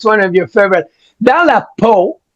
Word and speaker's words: Dans la peau: Dans la peau, that's how you pronounce it.